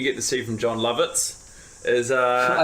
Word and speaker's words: Lovitz: The second thing you get to see from Jon Lovitz is... I like that you looked to me for approval. Is that how you pronounce his name?